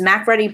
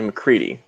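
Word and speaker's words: MacReady: In 1982's The Thing, what test does McMurray perform to check if someone is actually the creature? So, point of notice, his name is actually McCready. McCready? Yeah, it's spelled weird, but it works.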